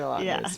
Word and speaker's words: Lautner: Two Taylor Lautners.